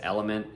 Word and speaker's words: LMNT: One I really like is Element, LMNT is how they spell it.